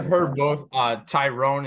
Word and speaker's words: Tyron: Tyrone is how most of everyone calls it. I believe it's Tyrone, but honestly, it's been a minute since I've heard the name, so I need a refresher myself.